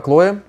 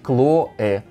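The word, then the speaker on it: Chloé: это абсолютно другое делом сумка сумка хлоя стоит она 1990 долларов для этого бренда не совсем большие деньги правильно говорить claw обязательно посмотрите мои видео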